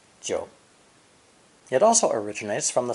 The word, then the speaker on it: 九: Our final character is an ideogram that belongs to the 3rd low dipping tone and is pronounced 九, 九.